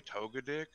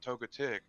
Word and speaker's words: Togetic: I think I said togetic I might brother Sawyer said toga dick and he's like all right over pronounce a ting the T so it comes out as togetic you know you have